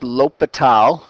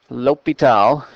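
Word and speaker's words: L'Hôpital: this is called lal's Rule is how that's pronounced lital lital and uh the objective of this section is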